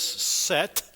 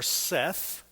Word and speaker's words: Set: brother whose name was SE or Seth depending on how you pronounce it he was evil and